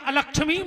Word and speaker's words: अलक्ष्मी: को नाश कर दे, जबकि शुद्ध उच्चारण है अलक्ष्मी नाशाम में हम, है ना चाची?